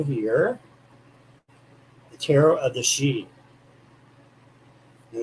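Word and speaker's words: Sidhe: you are still here the tarot of the sheep and it's looks like city but it's actually pronounced sheep this is one of my favorite decks it's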